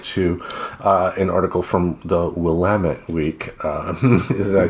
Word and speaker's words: Willamette: like I said, and we'll have a link to an article from the Willamette Week.